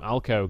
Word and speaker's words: Alku: They have their official top laner this time, Alco, going to be playing on that Rumble. I realise it's spelled Alku, but I've been told that it's pronounced Alco.